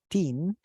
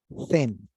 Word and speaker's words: thin: because if you say teen, you're saying adolescente. So let's pronounce it as thin, thin, thin, like with a Z, como una Z en español, cereza, cerveza, thin, thin.